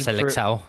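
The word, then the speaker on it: Seleção: I don't I don't know if he's like Selecao? Is that how you say it? I don't think he's good Selecao.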